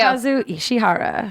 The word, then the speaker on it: Tsunekazu Ishihara: Tsunekazu Ishihara. Thank you, Alexa Ray, Resident for that Weeb. Japanese pronunciation.